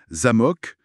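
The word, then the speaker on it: за́мок: L'exemple classique, c'est zamok. Accent sur le A. Ça ça veut dire château. OK. Mais si on déplace l'accent sur le ha zamok euh et bien là ça veut dire serrure.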